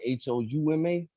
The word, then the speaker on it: Houma: So, like you said, yeah, I'm from Louisiana, a little small town called Houma, Houma. Some people confuse it with Homer, which is like up north. Okay, I thought Which, it was Simpson, but go ahead.